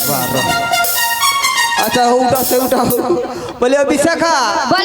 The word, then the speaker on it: বিশাখা: ও মাসি আমার নাম বিষা খা আচ্ছা মায়েরা বলুন তো আমি কি ভুল নাম বলেছি বিষ খাকে ভুল বলেছি ভুল কি করে হবে বিষা বিষ যুক্ত খা আমি কি তোমাকে ওই কমাটা দিতে বলেছি ওমা ওটা দেওয়া যাবে না না ওটা দেওয়া যাবে না একবারেই উচ্চারণ কর সত্যি তুমি বাবা